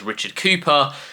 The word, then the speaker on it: Richard Cowper: I've actually heard some people pronounce Richard Kalper as Richard Cooper, but to be honest